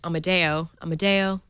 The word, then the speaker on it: Amadeo: Ron Amadio, whose last name I always mispronounce, is Amadeo. Rock me, Amadeo.